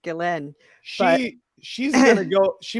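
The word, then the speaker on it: Ghislaine: never never look at jaslane maxwell that's a whole different level of like conspiracy stuff but the point is like pretty sure that name is pronounced galen she she's gonna go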